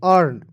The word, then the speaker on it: earn: उसके बाद देखिए EARN, तो ई का अ लिख दीजिएगा, यानी कि ई को साइलेंट कीजिए, ए को अ लिखेंगे, एन को न लिखेंगे, आर को रिफ लगाएंगे, अर्न।